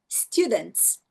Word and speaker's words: students: E você tem aqui, ó, students, students. Você não vai, students. A letra E é a última vogal. Apesar de ter um monte de letra depois dela, ela é a última vogal, portanto, ela não é pronunciada.